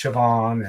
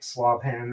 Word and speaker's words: Siobhan: When I looked at Siobhan, I always wanted to pronounce it like Slavhan or something like that.